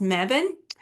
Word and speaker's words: Mebane: So, um you may have to go more towards the Greensboro or a space called Mebban. It looks like Mebane, but it's pronounced Mebban.